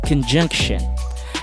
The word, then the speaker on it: conjunction: Conjunction. And take note, the T-I-O-N, 99% of the time, you will have to pronounce it exactly as that. Shin. Shin.